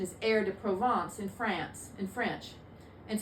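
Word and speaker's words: Herbes de Provence: spelled like herb D Pro Province but the pronunciation is air to provance in France in French and so it comes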